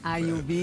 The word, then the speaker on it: Ayoub: saúde, com a Lamia Ayub. Ayub, não tem acento, mas se pronuncia com A.